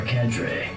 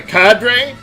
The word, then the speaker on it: cadre: Only the heavy airships helmed by our cadre have the propulsion necessary to make the journey. I mean, like, is that like a cadre? I think both pronunciations are considered acceptable.